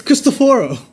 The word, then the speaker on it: Cristoforo: How were you pronouncing his name? Cristoforo. It's Cristoforo.